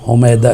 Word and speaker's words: حمیدہ: جو حمیدہ خاتون ہیں، ہم اپنی زبان میں اردو میں حمیدہ کہتے ہیں، حمیدہ خاتون، لیکن وہ صحیح تلفظ حمیدہ ہے، حمیدہ خاتون، یعنی وہ